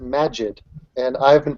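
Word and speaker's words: Maajid: he is telling me that his name is pronounced Magid and I've been pronouncing it maib for for like a long time and I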